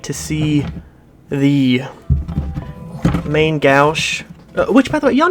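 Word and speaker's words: Main Gauche: like to see the main gouge which by the way y'all know main gash has said it's like main ghost or something it's French it's not said I've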